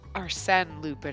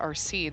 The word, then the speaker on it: Arsène Lupin: and I was like, I'm pretty sure it's Arsène Lupin and not Arsene. So I looked it up, and it's Arsène. So I realized I've been saying it wrong for 6 parts.